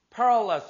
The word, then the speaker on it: perilous: 이거 Perry 아니라 Peril. 이렇게 때문에 여기에 이게 붙으니까 Perilous 이렇게 발음한단 말이야.